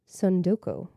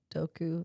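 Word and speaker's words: 積ん読: Okay, it's a Japanese word that doesn't have an English equivalent. Sundoku. Are you sure that's not just Sudoku and it's spelled differently. It's T-S-U-N-D-O-K-U. T-S. Sundoku.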